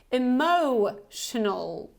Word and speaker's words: emotional: and this is simply emotional emotional so again you have this o sound like home emotional okay emotional next one